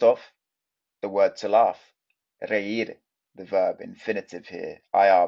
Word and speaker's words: reír: First off, the word to laugh, reír, the verb infinitive here, IR verb, although it's got a little accent on the I, which an accent in Spanish is called tilde, tilde. So really pronounce that, reír.